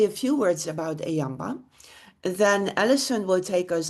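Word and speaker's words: EAMBA: M so we pronounce it Ayamba which is maybe not a good pronunciation for the UK uh typically uh coming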